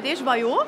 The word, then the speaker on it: Desjoyeaux: Herzlich willkommen bei Desjoyeaux. Ja. So spricht man es aus.